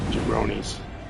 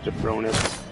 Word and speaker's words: Jabronis: Oh, your your TTS just said Jironis. Jabronis, not Jeffron.